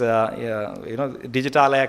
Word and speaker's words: Digitalaya: It is an Indian English name for the trusted digital repository, because it is Digitalaya can be pronounced in one breath, and it means, as you must be aware of Himalaya.